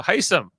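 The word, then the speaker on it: Hisam: we got on this episode so Jamil uh heisam which is how you say his name is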